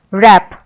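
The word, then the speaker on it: wrap: रैप, यहाँ पे भी आर से शुरू हुआ प्रोनाउंसिएशन, रैप, रेक।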